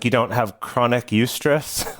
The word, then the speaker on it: eustress: that's distress and then by contrast we have eustress and eustress is spelled eu stress uh and it's from the